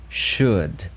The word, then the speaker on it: should: começa com o should sh sh tem esse som x Xiado a gente já sabe que quando a gente tem esse o u l depois desse som a gente alonga X E aí tem o d should should ele geralmente